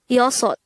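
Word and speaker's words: 여섯: Next, the native Korean version of number 6 is yosot. Again, yosot. This is composed of two syllables. The first syllable is yo, the second syllable is sot.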